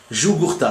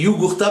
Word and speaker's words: Jugurtha: GLJ, ça veut dire Général Laitière Jugurtha. Ça se dit Jugurtha, mais ça s'écrit Jugurtha avec un J.